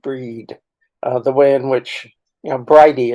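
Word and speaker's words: Bríd: the full title is Bridget pronounced breed the way in which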